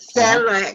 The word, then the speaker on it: Selig: Did I pronounce it correctly, Paul? Selig is correct. Selig.